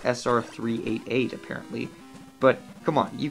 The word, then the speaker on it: SR388: This game's merits are being the only numbered Metroid, and was probably the most believable Metroid setting on the planet Sreb? Okay, so it's pronounced SR388 apparently, but come on, you can't blame me for making that mistake.